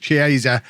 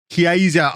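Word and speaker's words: Chiesa: alongside batarina in Midfield fabris on the left chieza kiesa on the right and then vlavic up front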